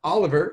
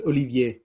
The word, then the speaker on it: Olivier: here and uh of course this is uh oliver again not gonna pronounce last name not on you it's on me uh what it's olivier you can pronounce his first name is on